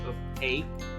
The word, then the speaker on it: opaque: Well, it's pronounced as opaque.